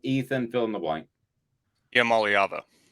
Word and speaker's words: Iamaleava: Iamaleava. Iamaleava.